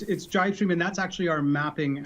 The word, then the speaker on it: Jibestream: Yeah, it's Jibestream, and that's actually our mapping application.